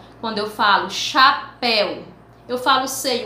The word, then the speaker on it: chapéu: que não é pronunciada quando eu falei chapéu ch chapéu mas eu não falo h o ch combinados o